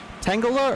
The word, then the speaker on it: Tangela: Tangela or Tangela? I always think it's Tangela because it's like a tangle.